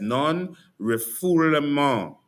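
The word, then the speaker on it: non-refoulement: Non rifful. That's how you pronounce it.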